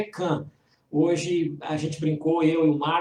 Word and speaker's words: Caen: Eu não sei dizer corretamente, é Caen, mas a pronúncia parece que é Cannes.